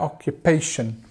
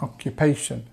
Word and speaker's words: occupation: So, on the third syllable there, occupation. Sh. And this uh sound, occupation.